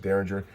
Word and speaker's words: Dareringer: Now this one, I thought it was pronounced Dareringer. Annie correctly pointed out it's Dareringer. Like the 70s band. Right, Dareringer, like the 70s band.